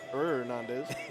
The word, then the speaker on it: Hernandez: Another fun fact about that name is if you hear anyone pronounce it with a hard H, they are mispronouncing it.